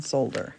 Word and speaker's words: solder: glass in Scotland and in Scotland they pronounce the L in solder they pronounce the L we don't in America but a you um